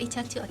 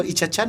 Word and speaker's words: Iccachu: Kalau Icha Chan macam yang di kan, macam yang ada jual-jual ikan kan? Icha Chan. Kan gitu. Tapi the correct pronounce dia adalah Ichachu.